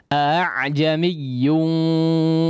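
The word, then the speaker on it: أعجمي: Tapi keduanya tidak menjadi mad ya, atau tidak dipanjangkan cara bacanya. Dalam artian langsung masuk kepada ain yang disukunkan. A'jamiyyu laula fussilat ayatuh a'jamiyyun wa arabi ya.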